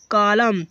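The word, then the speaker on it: column: जैसे कि को कॉलम सी ओ एल यू एम इ एन देखो एम के बाद एन है तो एन को यहां साइलेंट कर दिया गया।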